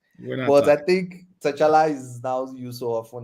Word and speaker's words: T'Challa: It's T'Challa. The T is not. It was that old comic where he specifically says, "Oh, the T is silent." But I think T'Challa is now used so often and sounds cooler or something.